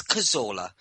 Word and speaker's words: Cazorla: Not Cazorla, not Cazorla. It's Cazorla. It's not difficult. Why don't you look at it, put your reading glasses on, and pretty much just say it how it's spelt, because it's not hard.